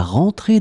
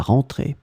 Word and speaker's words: rentrée: In this lesson, we will see together two words that are written differently, but they are pronounced the same way.